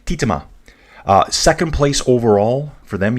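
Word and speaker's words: Tietema: I forget who told me how to pronounce it yesterday. I think his name was Henk. Henk Brome. Dude, if I called your name out right, just let me know. He said Titema.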